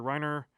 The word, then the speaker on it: Rainer: Rainer Nizia. Basically, you have a It's not Reiner Reiner Knizia?